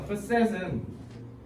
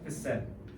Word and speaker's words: facet: facet은 프랑스에서 온 단어인데 측면이라는 뜻이야. 알겠죠? facet. 그래서 발음은 facet이 아니라 facet. facet이라고 해야 돼.